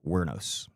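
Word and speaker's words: Wuornos: Is Aileen Wernos? And it's spelled, hold on, let me tell you how it's spelled. Her last name is spelled Wornos. It's pronounced Wernos.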